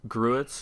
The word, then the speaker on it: gruit: Gruits is spelled G-R-U-E-T-S?